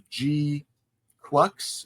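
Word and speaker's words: GQuuuuuuX: did they call it Gundam G quux I think is how you pronounce it but it's GG it's GQ six gq6 U's and then an X this just this 3947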